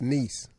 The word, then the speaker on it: Nice: is it pronounced it's niece oh it's pronounced niece but it spell nice but I bet they